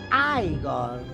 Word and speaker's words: Igor: padrone a padrone allora tu devi essere igor no si pronuncia ai gol ma mi avevano detto